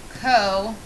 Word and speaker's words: cosine: an abbreviation for the cosine again pronounced co-sign the last one is